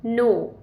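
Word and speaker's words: know: एन ओ डब्ल्यू नो जी हां के यहां पर साइलेंट है यानी कि के चुप रहता है। अंग्रेजी में कुछ अक्षर साइलेंट होते हैं जो कि चुप रहते हैं। इसीलिए यहां पर के एन ओ डब्ल्यू का प्रोनंसिएशन होगा नो ना किनो के आई सी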